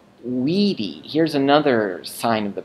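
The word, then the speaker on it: vīdī: So this used to be short I in the present, but now in the perfect it becomes a long I. So wideo becomes weedy.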